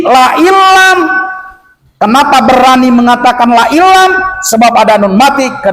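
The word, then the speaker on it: لئن لم: La ilam, jangan la in lam. Kalau la in lam salah hukum. Awas, hati-hati. Kenapa salah hukum? Berani saya mengatakan kalau dibaca lain lam salah hukum. Sebab ada nun mati ke depan ada huruf lam.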